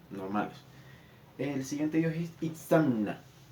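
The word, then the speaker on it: Itzamná: El siguiente dios es Itzamna, o Itzamna, para los que lo leen como se debería pronunciar.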